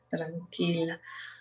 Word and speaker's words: tranquila: For Tiffany, I would like you to start pronouncing the R when it sounds, in this case, for example, in tranquila, the R sounds like when you, it's called flap. When you do, for example, little or water, it's like tra.